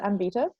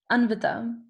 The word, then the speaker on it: Anvita: Is it Ambita? Yes. Why did I hear the pause? It's close enough, but it's not a word that is in English, so it's fine. No, it's not fine. Say it properly so we all know. Anvita. Anvita. Perfect.